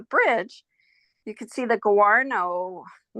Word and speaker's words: guano: And when I went for walks, and the pathways led underneath the bridge, you could see the guano. I'm not sure if I pronounced that properly. Yeah, guano, you got it.